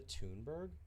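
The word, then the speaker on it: Thunberg: climate change is that you say her name tberg Greta tunberg tunberg says she first heard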